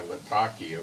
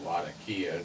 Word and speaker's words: Latakia: This could be to try to get a reversal on Russia moving into the two bases in Syria by Latakia or Latakia, depending how you want to pronounce it.